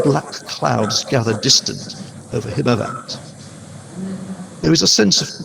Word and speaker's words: Himavant: I'm opening with the lines, and again I'm using Eliot's pronunciations here.